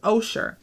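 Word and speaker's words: עושר: the word for wealth which is pronounced osher o-s-h-r oh sure he gives us that word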